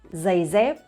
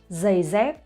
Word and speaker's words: giày dép: So you see here that I pronounce the GI sound and the D sound similarly. Giày dép, giày dép. So that's the northern accent, and people from the south, they might pronounce differently.